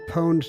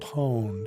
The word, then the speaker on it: pwned: Is that how you pronounce pooned? I don't know, pooned. Is that what you would say? I always say pwned to rhyme with owned. Pwned.